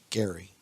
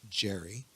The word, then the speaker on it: Gerry: the actions of elbridge Gary yes he pronounced his name Gary but over time it's been evolved in American discourse to be pronounced Jerry anyway Elbridge Gerry who